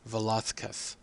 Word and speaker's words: Velázquez: hear them pronounce it Velázquez. And that is a result of the dialect of Spanish in which the Z is pronounced like a TH.